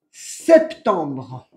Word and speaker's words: septembre: En septiembre, attention à la prononciation, en septembre. Ouais. Es como en castellano, me olvidé la E, pero bueno. Es como en castellano sin la I.